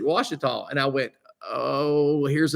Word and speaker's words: Ouachita: She gets home, she's watching one of our videos, and she goes, "Hey, you pronounced this wrong. I just got back from Arkansas, and they pronounced it Ouachita."